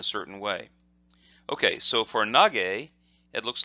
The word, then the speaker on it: Nage: But with the two tick marks there, that's a voiced, what's called a voiced sound, and so the ke becomes ge.